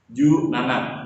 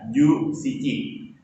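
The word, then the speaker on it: 十七: Ju nana, bukannya ju shichi. Ju shichi tidak bisa disebutkan, tapi yang benar itu ju nana.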